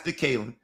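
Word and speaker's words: DeKaylin: And it's spelled capital D-E, capital Kaylin. That's DeKalen.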